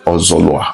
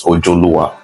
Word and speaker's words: Ozolua: Yoruba do not have Z in their alphabetical order, but the Benis have Z. So when the Yorubas want to pronounce Z of the Benin, they put J instead. So the name was supposed to be Ozolua originally, but due to different people from different places, they mispronounced it as Ojoluwa, which is also fine.